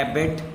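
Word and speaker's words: EBIT: तो इसको प्रोनाउंस किया जाता है एबेट, earning before interest and tax over interest on long term डेट्स.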